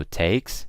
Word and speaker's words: takes: words like takes gets you pronounce it with an S okay so I don't say takes I don't use a Z I use an S ok so it takes and gets but what